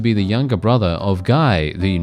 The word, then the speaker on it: Guy: Guy would be the French pronunciation, not Guy, but, you know, I'm going to butcher it by being English and saying it the English way.